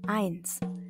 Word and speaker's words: eins: Diphthong I misalnya dapat ditemukan pada kata eins. Ditulis EI, tapi dibacanya I. Eins.